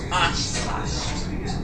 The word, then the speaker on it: Oshkosh: The number 2 is the University of Wisconsin, Oshkosh. Big gosh.